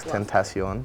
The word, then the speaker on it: XXXTentacion: I actually know how to say his name now because I looked it up. XXXTENTACION. Tentacion. Yeah. XXXTentacion. That's how you say it.